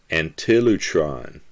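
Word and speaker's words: ἀντίλυτρον: for all the greek word translated ransom is antilotron it's spelled a n t i l y t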